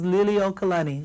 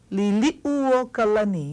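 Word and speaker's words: Liliʻuokalani: Now this is commonly mispronounced. Everyone says Liliuokalani. Liliuokalani. See this it gets left out. Okay? Liliu. Liliuokalani.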